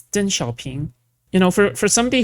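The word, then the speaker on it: Deng Xiaoping: man who also loved Dong Xiaoing. That's what I think about. Yeah. Also, by the way, he's still not pronouncing any of this correctly. It's Den Xiaoing.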